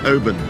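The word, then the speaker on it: Oban: Now, just ask me one question before we go any further cuz I've never been pronounced Oben. Oben, not Oh man, open.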